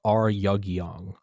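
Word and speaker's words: Ryugyong: in pyongyang but the tower is called the r yugyeong r y u g y o n g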